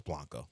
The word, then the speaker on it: Blanco: I go from Blanco to Blanco, but it's Blanco. That's generally how that last name is pronounced.